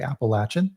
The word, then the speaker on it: Appalachian: And we focused on kind of the central, so Nashville East and the and kind of the Appalachian region, which the locals say Appalachin, of course.